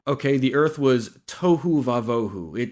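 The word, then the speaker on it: תֹהוּ וָבֹהוּ: Without form and void is the Hebrew phrase tohu vavohu. It rhymes. Where it rhymes? Yeah, it rhymes. It's kind of like an alliterative rhyme. Okay, the earth was tohu vavohu.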